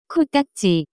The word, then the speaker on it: 코딱지: The pronunciation of this word is closer to 코딱지.